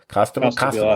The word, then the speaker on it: Costabile: How do you pronounce his name? Costabile, of course.